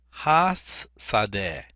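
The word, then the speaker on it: הַשָּׂדֶה: We want to say has sadeh. Has sadeh. Just like we learned in the previous chapters. We add the hey and the patak with the doubling of the sin right here.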